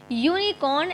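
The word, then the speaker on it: unicorn: कुछ लिखा हुआ है the words यूनिकॉर्न एंड यूनिफॉर्म have spelling beginning we with you आप देख रहे हैं इसमें जो यूनिकॉर्न है और यूनिफॉर्म है इसमें जो स्पेलिंग की का जो शुरुआत है वो यू से है ववलू सेशन विद यू और जो प्रोनंसिएशन है वो यू के साथ है consonant sound there for article has been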